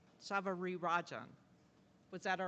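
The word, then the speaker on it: Savarirajan: she's taught me how to say her name Savar Rajan Savari Rajan was that all right Daisy good is Professor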